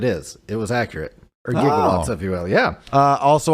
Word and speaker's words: gigawatt: Or gigawatts, if you will. Yeah. Also, I did look into the gigawatt. We changed the pronunciation. It used to be a gigawatt, but we switched to the soft G gigawatt, and that is what we currently.